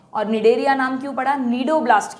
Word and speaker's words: Cnidoblast: है जिसका नाम है नीडो ब्लास्ट सी साइलेंट नीडो ब्लास्ट या स्टिंग